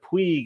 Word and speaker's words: Puig: coming over, but then he's from Catalonia, the Catalonia region of Spain. So they pronounce things differently. So instead of Puig, it's Puig. So like Ricky Puig.